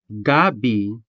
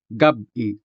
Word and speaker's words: gabi: If you say it without the pause and say gabi instead, you're actually saying the Tagalog word for taro root, like the one in this picture. So make sure to say gabi with that sharp stop Otherwise, you'll accidentally turn